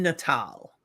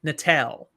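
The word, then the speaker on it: Natael: It's an AEL. Yeah. AL would be Natal.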